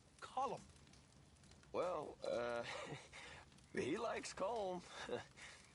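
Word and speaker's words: Colm: as well it's not col it's column in Ireland we say column well uh he likes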